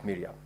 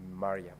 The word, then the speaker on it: Mariam: in your contributions you made reference to the distinguished Senator Omar sh Mariam as Miram I'm very sure that is because of where you come from other the name is pronounced as maram thank you very much